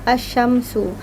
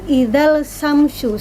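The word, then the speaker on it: الشمس: Asyamsu ada alif lam terus bertemu dengan huruf shin. Di situ dia alif lam tidak dibaca, bukan idzal samsu. Susah ya membacanya ya. Jadi langsung dileburkan saja. Idza syamsu, langsung ke huruf shinnya.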